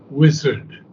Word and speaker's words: wizard: No, wizard. Wizard. Yeah, it's on the first syllable, wizard.